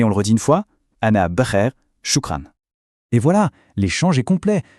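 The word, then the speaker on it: شكرا: Ce qui se prononce ana ber shukran. Ça veut dire je vais bien merci. Allez on le redit une fois shukran.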